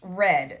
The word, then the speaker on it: read: It is spelled the same, but it's pronounced read.